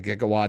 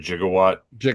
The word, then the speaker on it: gigawatt: I I mean, I only know what a gigawatt is because of, you know, Back to the Future. Yeah. Yeah, they pronounce it jigawatt. Um but it is actually gigawatt.